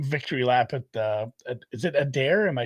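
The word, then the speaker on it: Adare: Like, just let him victory lap at is it Adair?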